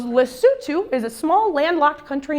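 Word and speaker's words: Lesotho: I go okay um L Soo he very politely corrects my pronunciation he goes lutu is a small landlocked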